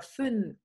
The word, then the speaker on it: fünf: Luego lo que cuesta mucho trabajo es pronunciar esta palabra, fünf, fünf. Es, bueno, es como que hay que articularlo con la boca muy adelante.